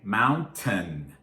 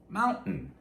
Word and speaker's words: mountain: So when you see the word, you're likely to say mountain, mountain if you're enunciating. But in fast, everyday conversation, most of us don't do that. We say mountain. And in this word, because of a combination of stress and fast speaking, the T, that T sound often turns into the glottal stop.